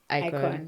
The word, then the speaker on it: IKOJN: Remember, IKOJN is IKOJN, guys, and the J is silent.